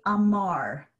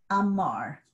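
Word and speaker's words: אָמַר: So if I say amar, he said, my stress is on mar, the second syllable, amar.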